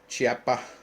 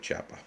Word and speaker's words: Chiappa: uh little looksie at the choppy chappa or however you pronounce it that's how I pronounce it chappa but um and that's